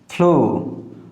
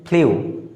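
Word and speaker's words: flew: তারপরে ফ্লু, ফ্লু। আমরা সাধারণত এটা উচ্চারণ করে থাকি ফ্লিউ, বাচ্চি চলবি ফ্লু।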